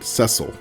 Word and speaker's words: Cecile: He was the fifth of six children born to Howard and Cecile West, although she pronounced it ceil.